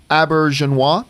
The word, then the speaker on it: Auberjonois: Star Trek shows now I always mispronounce is a last name but it's Renee a birch and wah yeah Rene Auberjonois just recently passed away